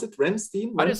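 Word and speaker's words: Rammstein: a lot to to ramstein or how do you pronounce it ramstein i didn't say ramstein because i'm because i'm real ramstein okay in german it's ramstein but ramstein sounds also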